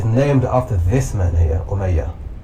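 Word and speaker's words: Umayya: The Omeaya dynasty is named after this man here, Omeaya. Not Muawa, but Omeaya.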